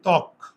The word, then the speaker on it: ত্বক: শব্দের প্রথমে আছে না তাহলে প্রথমে ব ফলা থাকলে ব এর উচ্চারণটা হয় না হয় তাহলে উচ্চারণটা কি হবে বলতো ত্বক আমরা কি তোক বলি তোক ওর তোকটা